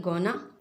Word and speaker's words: gonna: गोइंग टू को हम कहते हैं गोना। ठीक, किसी तरह प्रोनाउंस करेंगे हम गोइंग टू के लिए शॉर्ट फॉर्म गोना।